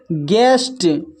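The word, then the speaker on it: guest: इसका जो उच्चारण हो रहा है गिटार, यू साइलेंट है। फिर है यहाँ पर गिल्ट, फिर है गार्ड, फिर है गेस्ट, फिर नेक्स्ट है बिस्किट, फिर है बिल्डिंग, फिर नेक्स्ट है सर्किट।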